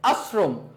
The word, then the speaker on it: আশ্রম: এখন আসে এটার বানানটা কি, উচ্চারণটা কি হবে, বানান এটা দেওয়া আছে, উচ্চারণটা কি হবে, সবাই এটা উচ্চারণ করি, এটার উচ্চারণ করি। দেখো আশ্রম, আশ্রম, আমার এখানে শয়ের উচ্চারণটা কিসের মতো হয়েছে,